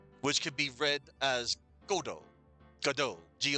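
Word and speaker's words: Godot: Um, so Samuel Beckett stated that God was the correct pronunciation for the character as in God and O, G O D, God, and then O. So Samuel Becka stated that Godo was the correct pronunciation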